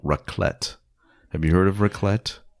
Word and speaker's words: raclette: Tell me again what raclette is, and I'll tell you if I'm thinking of that or if I'm making a mistake. Raclette is it's spelled RAKLETTE, raclette, and it comes in a little contraption.